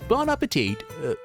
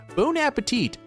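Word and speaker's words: bon appétit: also partake in battles Bon aate oh gosh I pronounced that wrong bone bone Appetit uh SC It Tristan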